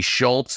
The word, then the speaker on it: Schultz: chera Josh dunkley Isaac Heeney Dan Houston locky Schultz that's how you pronounce it people Schultz people will learn just